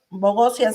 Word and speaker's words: Bogosian: Bogosian, ¿sí lo pronuncié bien? Sí, perfecto, perfecto.